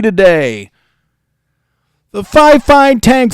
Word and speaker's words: Fifine: So, it is pronounced. They will tell you in an email it is Fifine. You got to get it right.